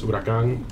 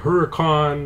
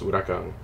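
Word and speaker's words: Huracán: yes, it is pronounced Huracan. All names are Spanish, not Italian. Look that up if you don't believe me. It's a common misconception. People are like Huracan, and they try to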